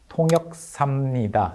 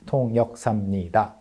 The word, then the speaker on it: 통역사입니다: introduces himself and says 통역사입니다. I am your interpreter. 통역사 interpreter. But he says it very naturally like 통역삽니다 instead of enunciating 통역사입니다 six syllables. He says it in five syllables. 통역삽니다 This kind of abbreviated pronunciation is also very natural.